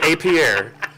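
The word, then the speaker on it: Appier: No, it's definitely Target, and it's definitely Apier.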